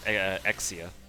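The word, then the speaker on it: Exusiai: Exusii, even though I think her name is technically pronounced Exia, which makes no sense to me, but whatever.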